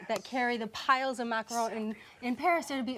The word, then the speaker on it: macaron: But I'm joining Cam at the counter to enjoy your beautiful macarons. Are Orly and Ken. You guys dig in. And the reason I'm actually pronouncing him properly, macaron, is because you actually learned how to make them in Paris.